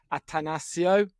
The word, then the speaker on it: Atanasio: I've been practicing because I kept missing off the second Asio.